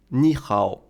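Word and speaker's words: 你好: puis mon temps mais quand on a deux syllabes du troisième ton qui se suivent la première se prononce sur le deuxième thon qui est un ton montant on écrit ni hao mais le mot se prononcent ni hao ça s'appelle incendie tonale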